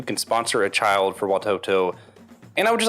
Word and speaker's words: Watoto: do you say it you got it right watoto okay and watoto could you could you just